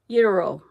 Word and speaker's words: gyro: It starts with a G, but you don't pronounce the G.